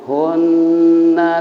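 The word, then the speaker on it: هُنَّ: ditahan karena ada tasdid cara bacanya hunna libasun lakum Wa Antum libasununun tahan ya dua harakat selama dua harakat bukan libasahun wah salah karena nunnya ada tasdid douel berarti libasunun Tahan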